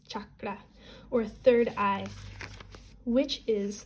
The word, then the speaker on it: chakra: to your brow chakra you know what I'm pronouncing chakra wrong it's chakra or third eye which